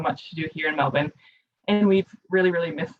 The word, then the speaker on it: Melbourne: minnesota would usually say melbourne before they knew how the australians pronounced it so we almost ignore that there's even an r in there but you can see